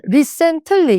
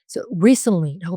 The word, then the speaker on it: recently: 근데 이거는 recently 이렇게 발음하면 안 돼요. 자, 그렇게 뭐 발음해도 알아 드릴 수 있겠지만 진짜 제대로 교포처럼 발음하고 싶고 원어민처럼 발음하고 싶으면 앞에가 강세로 들어갑니다. recently라고 발음을 하시면 돼요. 틀리가 거의 안 들려요.